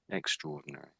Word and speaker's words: extraordinary: So I think you said extraordinary, but most of the time, this it's normally said as extraordinary, extraordinary, extraordinary.